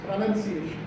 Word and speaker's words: pronunciation: Pronunciation, O is not pronounced, it's pronunciation.